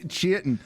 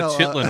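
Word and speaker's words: chitin: Yeah, we say it like Chittton in Florida. No. Uh Chitten, it's not a Chitlin armor. Chitlin armor. Not Chitlin armor.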